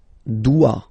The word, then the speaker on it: dois: Je dois. Okay, remember, final S is not pronounced. Je dois. OE, when you combine the two, you get the sound wa wa wa.